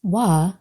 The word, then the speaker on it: Waw: Our third and final letter today is wa. Pronounced wa, this letter has some very relevant meanings to our situation here, including hook, secure, and add.